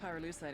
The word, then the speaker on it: pyrolusite: You know what pyrolusite is, right? Yeah, neither did I. Pyrolusite, key syllable pyro, by the way, is